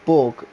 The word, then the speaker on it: Berg: first in the back but my name Berg by the way it's pronounced Borg I was uh okay